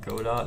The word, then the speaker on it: Godot: scripting language for uh godot engine or godot engine i think it's pronounced go dot actually go down